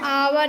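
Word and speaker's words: hour: क्या लिखा गया है, आवर। यहाँ पे एच साइलेंट है, तो आवर का पहला अक्षर क्या है, आ।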